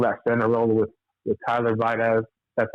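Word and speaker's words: Biadasz: I think they should take either Dye like Zach was saying, or fill that center role with Tyler Vidaz.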